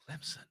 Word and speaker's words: Clemson: about how I said Clemson Clemson s uh s not a z right make sure you say